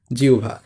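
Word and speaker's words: জিহ্বা: কারণ এখানে হ এর সাথে ব আছে। সুতরাং এটা হবে জি। তারপর এখানে কি হবে? রসু বা উ বলছিলাম না এটা হবে। এরপর ব আকার ভ আকার ভা। জিউভা। এটা হচ্ছে এই জিওভার উচ্চারণ। সঠিক উচ্চারণ।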